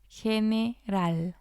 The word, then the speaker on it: general: So again, we're seeing the letter G with the E and it sounds like the letter J.